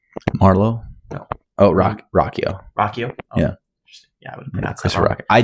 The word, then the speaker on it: Ruocchio: Rockio. Rockio. Yeah. Yeah. Rock. I had to pronounce it wrong until I saw an interview.